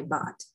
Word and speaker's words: baht: local currency called as thai baht sounds kind of like bath but but so b-a-a-h-t so taiba yeah that's